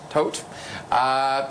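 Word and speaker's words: Toet: I want to talk about this Conservative MP, Lawrence Tohet, is that how you pronounce it? Tohet.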